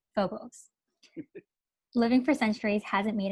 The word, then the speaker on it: Phobos: One is a very attractive vampire named Phobos, pronounced Phobos.